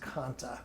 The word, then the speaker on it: Kantha: And it's pronounced Kanta. Yeah, I believe so too. A lot of people will say Kantha, but I think it's Kanta.